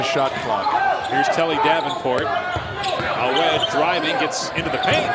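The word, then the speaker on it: Awet: It's A-W-E-T. Right, but it's pronounced Awed, like with a D.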